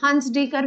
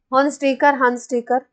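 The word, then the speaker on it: Hunsdiecker: अच्छा हॉन्स डीकर reaction, scientist का नाम है हंस डीकर भी बोलते हैं लोग इसको, हंस डीकर, जो भी प्रोनाउंस करो।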